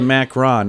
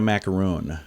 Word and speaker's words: macaron: are more popular so this is a macron not a macaroon yeah technically it is